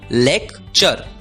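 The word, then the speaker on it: lecture: होती है चर इसलिए एल ई सी टी यू आर ई का उच्चारण होगा लेक्चर लेक्चर लेक्चर मतलब भाषण अगला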